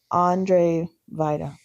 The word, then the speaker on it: Andrzej Wajda: It's Andrzej Wajda. Yeah, the W's a V.